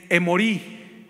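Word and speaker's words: אמורי: amorreos los amorreos viene amorreo viene de un vocablo en hebreo que es emori con acento en la i emori y este vocablo nos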